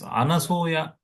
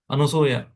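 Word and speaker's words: Anasuya: what is her name she is anasya not an many people nowadays they pronounce it as anuya that means who is having some kind of or whatever it is not a correct word an an who is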